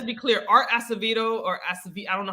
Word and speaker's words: Acevedo: Are we gonna talk about Art Acevedo?